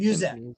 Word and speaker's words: Musette: And Musette.